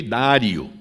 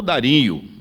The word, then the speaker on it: Dário: 9 já é o rei dário ou dario essas duas pronúncias são aceitáveis filho de assuero e